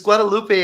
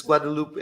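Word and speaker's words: Guadeloupe: it not Guadalupe no it's it's Guadalupe in English but it's Guadalupe in uh okay in in Dutch SL uh SL French nice right worried and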